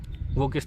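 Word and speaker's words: walk: व ए एल के इसमें एल साइलेंट है वॉक वॉक मोड लिखते समय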